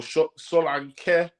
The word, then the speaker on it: Solanke: Solanke or Solanke, as it's meant to be pronounced, because he's actually Nigerian.